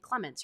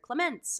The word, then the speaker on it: Clemens: hi I'm Clemens so now you know how to say my last name Clemens you're not going to say Clemens or Clement or Clement you're going to know I say my name Clemens if you watch my